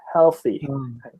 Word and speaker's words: healthy: like withdraw and then the other way for healthy is he'll like prepare your mouth for the L but don't say the LS a fee instead so healthy haha that reminds me of